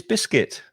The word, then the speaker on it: biscuit: favorite words after chocolate is biscuit two syllables especially when you put